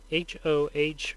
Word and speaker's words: Hoh: We are fixing to leave the HOH rainforest. I think it's pronounced Ho Rainforest.